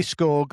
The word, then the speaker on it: Scog: Ellie Scog rhymes with Vogue and her apparel and her gear.